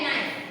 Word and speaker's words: knife: फिर है नी, KNEE, नी, फिर है नाइफ, KNIF, देखा आपने? फिर से के जो है वो साइलेंट हो गया, नी यानी कि NEE,